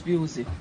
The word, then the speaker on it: Pusey: Pusey. A Pusey? Pronounce Pusey.